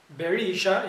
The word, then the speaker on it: Berisha: begin by examining the protagonist jorg barisha now barisha in his last name let me spell it b e r i s h a